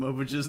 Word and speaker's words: Mobage: No, for real, I'm gonna start calling them Mobages now. Well, no, just the plural is Mobage, like garbage.